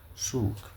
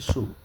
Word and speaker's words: soğuk: Le froid, ça se lit soğuk. En prononce, on dit soğuk.